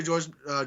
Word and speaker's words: Jorge: But I consider George Masvidal to be the or Jorge Masvidal, depending on how you say it. He says it's both.